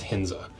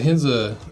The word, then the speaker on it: Ahinsa: we got hinza shoes I think the a is silent I don't think it's a hinza I think it's hinza so who is hinza